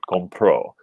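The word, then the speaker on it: compró: in the past um then that would be con pro so we're using an accent marked here to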